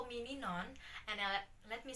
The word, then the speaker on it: Ninon: is but you can call me ninon and uh let me spell it for you november india november oscar november